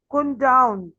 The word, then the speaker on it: condone: Listen the word 16 की pronunciation देखिए. Kun down.